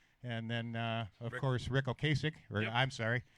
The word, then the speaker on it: Ocasek: Ocasek is, I believe, the proper pronunciation.